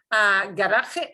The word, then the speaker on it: garaje: It's not And spelled We have to pronounce it the Spanish way, which is garaje.